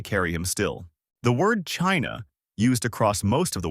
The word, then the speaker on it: Qin: The word China used across most of the world is widely